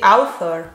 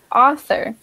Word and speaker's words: author: Yeah, in Britain we don't pronounce the R, so it's just author.